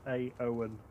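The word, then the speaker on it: Éowyn: Pronounced A-O-N.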